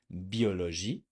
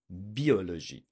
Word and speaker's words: biologie: Did you say biologie? Did you say the j sounding at the end? Biologie. And the I has to be French. Biologie.